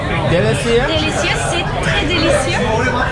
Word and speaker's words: délicieux: Delicieux. Delicieux? Delicieux. C'est très délicieux. Oh, it sounds like a delicious.